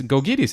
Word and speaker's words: Gkogkidis: pronounce this and then vasilis goes there and says it's gois and you say good Lord the letters don't relate to what you're saying but fine that that's